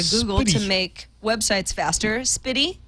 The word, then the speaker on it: SPDY: Spitty? I don't know. Speedy! Yay, we agree on that pronunciation.